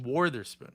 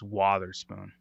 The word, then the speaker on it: Witherspoon: But aren't they pronouncing it Wotherspoon? Wotherspoon. Wotherspoon. Wotherspoon. Wotherspoon. I thought it was Wartherspoon, like war. No, I think it's Wotherspoon.